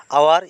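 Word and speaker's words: hour: কি হয়েছে সাইলেন্ট হয়েছে গতিকার ডব্লিউ কি হব সাইলেন্ট বর্ণ আওয়ার ইয়াতে এইচ সাইলেন্ট হয়েছে আওয়ার মানে ঘন্টা অনেস্ট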